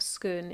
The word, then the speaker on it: Scone: He's speaking, of course, about the famous stone of Scone, and yes, I know there are various ways of pronouncing it, but I'm going with Scone.